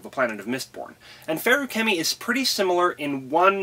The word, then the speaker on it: Feruchemy: Continuing on with our analysis of the metallic arts, we come to Feruchemy, pronounced like biochem, not Feruchemy like my brain wants it to be.